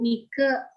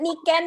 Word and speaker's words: Niken: Bukan ini ya, orang suka manggil aku Nike. Aku makanya itu tadi aku sempat cerita, aku khawatir orang manggilnya nyebutnya Nike Universe. Ingat tuh, Niken Universe mesti ya bacanya ya. Ingat ya, kalau mau lihat intip-intip Instagramnya itu adalah Niken Universe gitu ya, bukan Nike Universe.